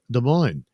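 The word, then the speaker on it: Des Moines: Uh Susan Dolan, a lot of our cities have French names like De Moines. Remember the S is silent or if Native American already.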